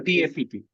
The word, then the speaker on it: TAPP: Nikita, it is better to use the term TEP and TAPP rather than TEP and TAP because some examiners may not actually like it.